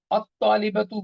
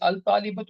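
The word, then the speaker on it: الطالبة: At-talibatu, we know this lam is also sukoon. Take jalasat out. How will you say? You will say al-talibatu, and you say at-talibatu.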